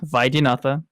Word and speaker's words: Vaidyanatha: It's not that bad to pronounce. It's pronounced Vaidyanatha.